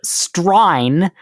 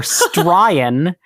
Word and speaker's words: strine: Completely separate via Australian slang, which I've learned is sometimes called strine or stryan, which comes from pronouncing Australian in an exaggerated accent.